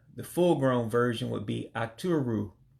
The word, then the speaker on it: Aturu: Sheep, the full-grown version would be Aturu. Aturu, sheep.